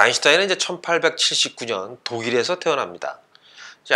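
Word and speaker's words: Einstein: 그러니까 이제 미국식, 근데 그렇게 이야기하게 되면 아인슈타인도 이제 아인스타인 뭐 이 정도 이렇게 발음을 하면은 돼야 될 텐데, 아무튼간에 독일 발음으로 이름을 발음을 하면 이제 알베르트 아인슈타인이 되는 게 아마 보다 더 정확한 발음인 것 같습니다.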